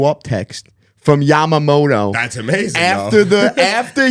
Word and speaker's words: Yamamoto: or yamy Moto's booty stop saying yamy Moto y cannot have noidea find me a COR a correct pronunciation of this guy's name and play it y because it's not yumy it's not yumy that let's just get that same as this let's see Yamamoto Yamoto so guess what I'm